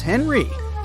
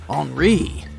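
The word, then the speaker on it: Henri: And this is Henry, but it's more correct to pronounce his name as Enri since he's French.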